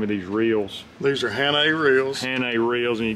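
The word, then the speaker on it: Hannay: these little here that was how do you pronounce the name of these reels these are hannah reels hannah reels and you got this little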